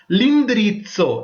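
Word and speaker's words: l'indirizzo: இது அப்போஸ்ட்ரோபி வருது என்னன்னு சொல்லிட்டுன்னா indirizzo வந்து வோகால் என்றபடியால லிந்திரிட்சோ.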